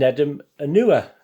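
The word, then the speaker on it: Nedum Onuoha: julian lescott's t stop by the lee and nedim anua that's how you pronounce it neder my apology visit isn't but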